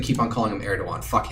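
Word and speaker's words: Erdoğan: I know it as Erdogan. He's got a G in his name, but it's pronounced with a W sound.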